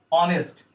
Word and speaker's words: honest: अच्छा, कुछ ऐसे भी शब्द होते हैं, कुछ हमारे ऐसे भी शब्द होते हैं जिनमें, जैसे देखिए HONEST ऑनेस्ट, इसमें यच का प्रोनाउंसिएशन नहीं करते हैं, शायद ऑनेस्ट बोलते हैं।